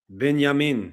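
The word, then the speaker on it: בנימין: Here we have the pronunciation in Hebrew, binyamin right there. Not doesn't even sound remotely close to banyamy or banana also proves the e sound in Benjamin.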